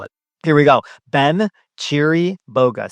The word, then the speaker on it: Chiriboga: Actually you should probably spell it. Here we go. Ben Cheeri Boa.